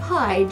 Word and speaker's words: hide: And there's a silent letter at the end of hide, just like inside. It's that E.